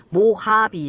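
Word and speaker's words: Mojave: m5 jh v 입니다 이제 이가 발음이 h 로 발음이 되면서 모하비 라고 있지만 실제로 쓸 때는 뭐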